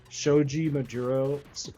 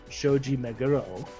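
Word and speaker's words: Shoji Meguro: Like Shoji Majurro, oh my gosh, now I'm going to die from fans for pronouncing it like that. Shoji Meuro is one of the best composers in video games in my opinion.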